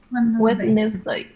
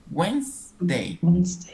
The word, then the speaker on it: Wednesday: Wednesday. It's actually 2 syllables. Wednesday. Okay. Wednesday. But when we write, it's like 3 syllables. Wednesday. When I write the word, I need to repeat Wednesday in my mind.